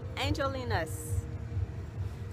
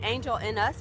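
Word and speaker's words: Angel-in-us: taking you to angel angelina's foreigners call it angel in us because that's how it looks like it's spelled but i think koreans pronounce it angelina's like like a name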